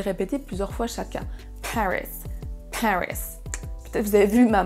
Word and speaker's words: Paris: Paris, Paris. Peut-être vous avez vu ma main qui faisait un petit mouvement pour la première syllabe. Paris, c'est la première syllabe qui est accentuée.